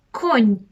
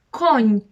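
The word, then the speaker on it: koń: давайте подивимося на слово конь конь бачите якщо ви краски не було ми б з вами прочитали кон з’являється креска і все це вже в нас буде конь так само день кінь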